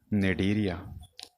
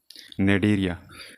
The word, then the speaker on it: Cnidaria: अब इसके बाद नेक्स्ट 1 पॉइंट जो है वो है नेडेरिया। यहाँ पे ये सी साइलेंट है, नेडेरिया।